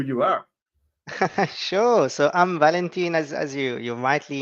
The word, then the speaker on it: Valentin: England or Spain pronouncing my name is pronounced Valentin in French but it's not the easiest pronounce for everyone Val just works perfectly